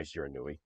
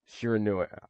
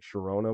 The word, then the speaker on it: Shiranui: Shiranui. So, before, my dad was talking about this, so the way he pronounced it was like Sharona, which reminded me of this like one song, which was Mai Shiranui.